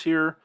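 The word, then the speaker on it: היא: to remember the difference here but man is this unfortunate because in hebrew this word is pronounced he he just like this it's pronounced the same way he problem is in hebrew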